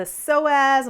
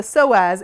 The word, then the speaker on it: psoas: The psoas muscle, and it's spelled psoas, connects to the inside of your leg.